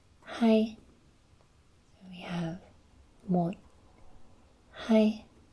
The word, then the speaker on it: hai: Is pronounced hai.